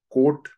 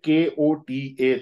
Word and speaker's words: कोट: इसे बोला जाता है कोट चक्र। इंग्लिश में KOTA, तो कोटा चक्र हो जाता है, बट एक्चुअल प्रोनाउंसिएशन जो है दैट इज कोट चक्र।